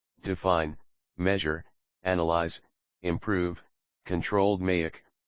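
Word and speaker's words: DMAIC: It became the gold standard for datadriven performance improvement to maic framework define measure analyze improve controlled maic pronounced doic is the structured five-phase problem solving methodology central to six sigma.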